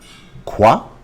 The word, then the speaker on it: quoi: What is pronounced quoi.